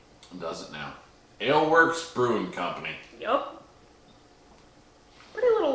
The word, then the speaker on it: Alewerks: what's the brewer or who's the brewer rather ale works but it's not spelled like you would think it's a l e w e r k s ale works does it now ale works brewing company yup pretty little logo too it's